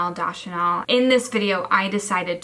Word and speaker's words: Deschanel: In this video, I decided to fuck Zoe Deschanel, which I know I say her last name wrong, Deschanel.